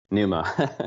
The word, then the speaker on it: Pneuma: Is it Pneuma or Noma? Pneuma. Pneuma.